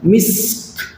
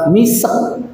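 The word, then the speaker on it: مسك: khitamuhu mis diulang khitamuhu mis bagaimana cara membacanya mis jadi kafnya itu dia dikeluarkan hanya pantulannya misk misk jadi bukan misek jangan kalau misek sinnya dikasih harakat e tapi khitamuhu misk misk jadi sinnya disukunkan, kafnya disukunkan jangan misek.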